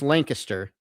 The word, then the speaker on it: Lancaster: Now, for those of you who have grown up in the great state of South Carolina, it's Lancaster, South Carolina, right? Is the correct pronunciation.